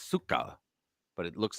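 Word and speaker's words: сука: yka in in in Ukrainian it's or it's pronounced Suka actually but but it's C yka but it's Suka but it looks like siika but it's it's pronounce Suka yeah I just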